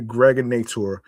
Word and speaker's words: Gregonator: I'm your man, aka the Gregonator. Rhymes with now or later.